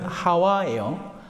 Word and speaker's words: 하와: 다른 여기 표현은 하와예요. 하와를 히브리합으로 그러니까이 그리스로 표현을 하다 보니까 앞에 하 우리는 하가 가능하잖아. 하 히 근데이 그리스에는 히이라는 단 발음이 안 되니까 골 때니까 에와 이렇게 된 거야. 에우아. 예. 맞아요. 실제로 그 발음이에. 그러다가 그게 미국 영역으로 넘어가면서 에바 이브가 된 겁니다.